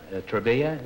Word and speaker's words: Travilla: your right name name which is Bill travilla Trava is the way you pronounce it Trava Trava is that Spanish or